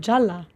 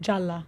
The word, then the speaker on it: Jalla: Of Jalla. Please. Yeah, you got to say it right though first. Jalla.